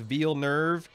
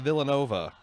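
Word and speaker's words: Villeneuve: talking about hey man if the guy once as his name pronounced veal nerve he should not spell at Villanova it's veal nerve yeah apparently dennis Villanova's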